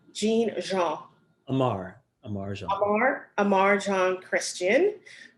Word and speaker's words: Jean: Jean.